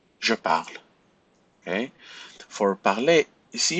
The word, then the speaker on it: parle: Parle, parle, parle, parle. This E sound will disappear from the present. So make sure that you do not pronounce the E with the exception of vous.